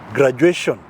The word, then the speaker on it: graduation: For example, you can say graduation. Yes. Graduation. Graduation, yes. That shon is T-I-O. But you know, you are pronouncing sh as S-H.